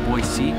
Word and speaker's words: Boise: We're in Boise, pronounced B-O-Y-S-E-E. Boise.